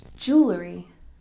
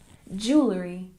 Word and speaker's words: jewelry: And number 11, we stress the first syllable and we pronounce it like jewelry, jewelry. One more time, jewelry.